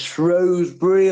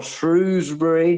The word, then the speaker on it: Shrewsbury: Harrogate won 2-0 against Shrewsbury or Shrewsbury, depending on which side of the river you're on.